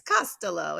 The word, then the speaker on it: Costolo: So he, at the time when I joined, I completely mispronounced his last it's name. okay. It's Costolo. It's like Costolo. It's Italiano.